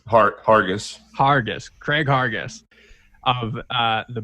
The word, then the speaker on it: Harguess: do you say your last name heart argus hargis craig hargis of uh the bad roman podcast